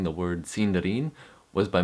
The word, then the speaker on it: Sindarin: And the third way I was mispronouncing the word cinderin was by mispronouncing my vowels. The letter I is pronounced like a long e sound.